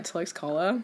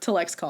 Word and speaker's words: Tlaxcala: We actually had to ask locals because I need to know how to pronounce the city before I go there. I feel like it's just respectful. And that's how you say it?